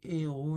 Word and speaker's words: héros: On dit les héros ne sont pas des des héros. Donc on fait pas la liaison avec des héros parce que ne sont pas des héros.